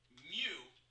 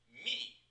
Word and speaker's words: mu: symbol that we call mute isn't actually pronounced mu in the Greek language it's pronounced me but everyone the United